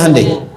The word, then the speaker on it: Hyundai: Hyundai kan dibacanya Hande ya kan sana Honda sini Handai gitu.